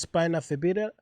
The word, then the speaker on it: spina bifida: spina bifida, and how do you say it correctly?